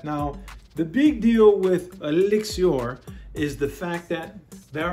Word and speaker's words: Elixir: And when you pronounce this, it looks like elixir, but they want you to say Elixir. So, Sauvage Elixir.